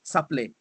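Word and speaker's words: Caplait: It's spelled C-A-P-L-A-I-T, Saplé. Oh, Saplé, okay. In French.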